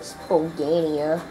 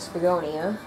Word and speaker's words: Spagonia: in the Wii version I called it spania cuz I didn't know how to pronounce it at first but but now we're going to spagonia yeah take that don't